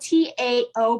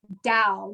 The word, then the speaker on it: Tao: I love Bobby Oliver, and it's spelled T-A-O, but you say it Dow, not Tao.